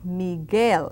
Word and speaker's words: Miguel: Michael is Miguel. Now that U is very silent when it's a G and a vowel next to it. Miguel, not Miguel, but Miguel.